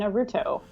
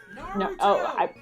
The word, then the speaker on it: Naruto: Tim Whitfield, thoughts on Dragon Ball Z and Naruto?